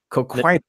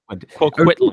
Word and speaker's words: Coquitlam: Coquitlam. Coquitlam.